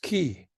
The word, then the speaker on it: Quay: in a building called the key Quay pronounced key okay and I owned